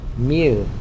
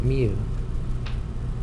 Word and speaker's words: mu: letter looks like this anyone know how we pronounce that letter yeah mu good that's a mu m u so anyway that's called mu and